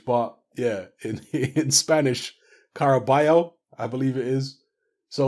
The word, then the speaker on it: Caraballo: I want to say Caraballo because that's how it's pronounced phonetically in English but yeah in Spanish carabeo I believe it is